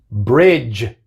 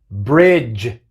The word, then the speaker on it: bridge: edge, edge, dodge, dodge, bridge, bridge, judge, judge. Así que vemos que en estas palabras tenemos la D seguida por la G, pero solamente hace el sonido de la G. La D es muda.